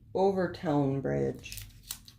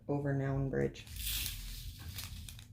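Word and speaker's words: Overtoun Bridge: The Overtown Bridge. I'm assuming that's how it's pronounced. It's spelled O-V-E-R-T-O-U-N, like noun, instead of O-W-N, like town, but Overtown Bridge. Unless it's Overton, but I'm saying Overtown.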